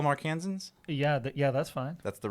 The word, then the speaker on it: Arkansans: Do you Like- call them Arkansans? Yeah, that's fine. That's the right Have you called the pronunciation.